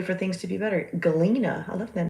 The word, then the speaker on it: Galena: Galena, I love that name. It's like Glenda, but the G is silent. Galena.